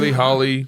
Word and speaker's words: Hawley: We pronounce it Hawley, but that's fine. Hawley. Yeah. Josh is a good guy. Hawley. It's very confusing. AW is always pronounced aw.